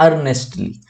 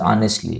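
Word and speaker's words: earnestly: Next है अर्नेस्टली। अर्नेस्टली बोल लो या इसको ऐसे बोल लो, ऑनेस्टली, ऑनेस्टली, ठीक है, करेक्ट प्रोनाउंसिएशन इज ऑनेस्टली, ठीक है।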